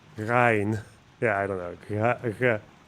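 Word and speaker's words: غين: So I just hear huh or guh, like that very silent guh, guh. But it's not that. Yeah, it's Ghayn. Ghayn. Ghayn.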